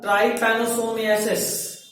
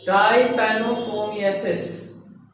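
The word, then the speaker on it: trypanosomiasis: Sleeping sickness, इसका name is ट्राइपैनोसोमियासिस। Spelling लिखोगे मैं तुम कैसे याद करेंगे हम लोग? मुंह से बोल बोल के लिख के। ट्राइपैनोसोमियासिस, ट्राई TRY, pano PANO, SOMIA, सोमिया SIS, सिस। ट्राइपैनोसोमियासिस।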